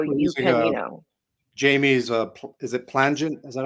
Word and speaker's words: Plangent: So you can, Jamie's, is it plangent?